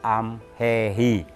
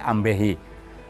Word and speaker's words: amhehi: Ya tadi saya di awal juga pernah bilang kan, V dengan B itu dekat. Dan celakanya kita juga jarang-jarang bisa menyebut amhehi, kagok. Jadi lebih karena pengaruh dialek, karena pengaruh apa, jadi ambehi.